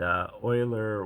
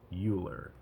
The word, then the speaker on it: Euler: And Euler was one of the great mathematicians, and his name looks like it would be pronounced Euler, but it's, I believe, pronounced Euler.